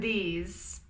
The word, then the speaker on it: these: Be careful with the pronunciation of this and these. This, T-H-I-S, is singular. It has a short I sound. This, this. These, you see my mouth, these is for plural. It has a longer E sound.